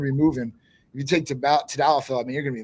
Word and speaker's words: tadalafil: Some people do tadalafil. Proper pronunciation is?